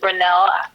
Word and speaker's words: Grenell: your name my name is Robert renell Robert grenell Ando grenell g r not quite it's spelled g is in Golf R is in